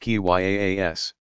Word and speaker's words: qiyas: of reasoning by analogy, qiyas, pronounced qyaas, that followed strict rules so as to keep the process as free of personal whim as possible.